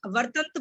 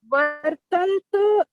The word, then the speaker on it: वर्तन्त: आपने वर्तंत इति धारयन् नहीं बोलना, वर्तंत बोला अगर आपने तो आपने त आधा बोला, वर्तंत। वर्तन्त इति धारयन्।